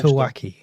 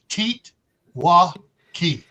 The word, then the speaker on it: TEOTWAWKI: Teotwawki. The O is silent. No. Yes, O silent. It's Teotwawki. Teotwawki, because we're English.